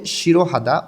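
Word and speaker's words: 싫어하다: করা শিরোহাদা অপছন্দ করা হিউত এখানে জোড়া বাচ্চসিম আছে হিউত যেহেতু হিউতের পরে ইয়ং থাকলে হিউতটা যেহেতু ইয়ং এর স্থানে যায় না তাই হিউতের পাশে রিউল আছে রিউলটা ইয়ং এর স্থানে চলে যাবে এটা ভাতমের নিয়ম তাইলে উচ্চারণটা হবে শিরোহাদা অপছন্দ করা মাসিত্তা স্বাদ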